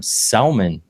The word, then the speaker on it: salmon: How do you just randomly pick letters in a word, not say them? Salmon. That's how it's spelled.